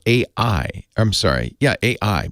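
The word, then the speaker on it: AEye: Yeah, AI, but it's not spelled AI. It's spelled A-E-Y-E, like eyeball. AI.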